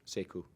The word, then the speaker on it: Sekou: How do you pronounce it? Sekou.